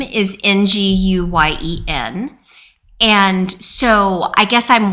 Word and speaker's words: Nguyen: And so I guess I'm wondering if your NG is pronounced similarly to the NG in Wen, which I also actually can't really say. It's sort of like sing-a-song. It's the sing-a-song.